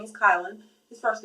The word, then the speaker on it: Kylan: y l a n I guess a lot of people thought it was like um Kellin or something I guess because like Dylan but um it's pronounced kylin and uh so yeah